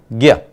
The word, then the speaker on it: ज्ञ: तो देखिए जरा, ज और य के मेल से हमें जो नया संयुक्त वर्ण मिला यह है ज्ञ।